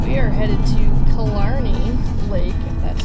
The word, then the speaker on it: Killarney: with today's all right we are headed to killarney lake that's how you say it um